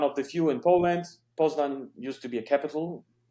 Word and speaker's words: Poznań: Okay, it's Poznań. That's how you pronounce it, but you can write Poznań, Poznan, without the weird letter at the end.